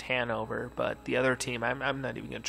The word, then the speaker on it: Hannover: I know the one team is pronounced Hanover, but the other team, I'm not even gonna try to pronounce the name of that team.